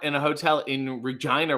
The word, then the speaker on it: Regina: have to tell them no no it's pronounced how you don't want to say it number one number two